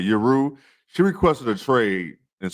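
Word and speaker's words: Yueru: Yuru.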